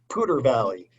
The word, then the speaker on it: Poudre Valley: You attended your family medicine internship and residency at Poudre Valley Hospital in Fort Collins, Colorado. What was that? Poudre Valley. We go with the local pronunciation.